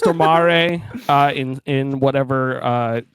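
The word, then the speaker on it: Stormare: how you pronounce his last name yes it's pronounced tomare uh in in whatever uh I think he's Swedish this was on a podcast once that's the only reason I remember it I'll call him stor air for you Americans thank you uh but but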